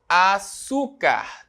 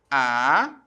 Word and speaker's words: açúcar: açúcar, terminado em R. Né? Como é que eu separo a palavra açúcar? A-su-car. Certo? Qual é a sílaba tônica? Né? O U, penúltima sílaba tônica.